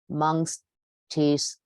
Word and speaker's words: Montesquieu: So look at his name. How many syllables are there? Montesquieu, 3 branches, right?